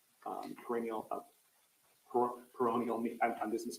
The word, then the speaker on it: peroneal: uh and there is an air called the perineal um perennial peroneal I'm dismiss pronouncing I'm sorry it's called um p-e-r-o-n-e-a-l nerve